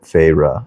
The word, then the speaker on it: Feyre: She fixed her wide eyes on me and said, "Please, Feyre." She drew out 2 syllables of my name, Feyre.